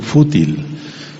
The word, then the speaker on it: fútil: palabra que se llama fútil con acento en la fútil y fútil quiere decir